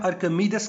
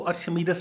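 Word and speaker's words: Archimedes: इसको हम कहते हैं, इंग्लिश में इसकी प्रोनाउंसिएशन है आर्किमीडेस कांस्टेंट, उर्दू में हम आर्किमीडेस को अर्शमीदस भी कहते हैं।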